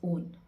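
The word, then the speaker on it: -one: Not pronounced as वन, it's pronounced as ओन।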